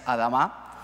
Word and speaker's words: ADAMA: de mercado para dama venimos diciendo adama dama Es lógico porque es la pronunciación en español pero la realidad la compañía la forma de decir correctamente la compañía es adama gracias beto y Luis